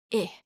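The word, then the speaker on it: へ: about two a destination but traditionally it was E I know it's written as a heavy it's pronounced um can I put a here uh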